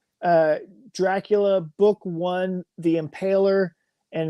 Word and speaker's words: Dracula: Dracula Dracula I I pronounce it in more the Romanian um I go back and forth but drula is is uh one of the ways that I've always heard it pronounced but but Dracula is just fine oh man see look